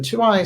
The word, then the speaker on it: Tuaoi: And the Two-Eye Stone, which is spelled Tuaoi, is something which is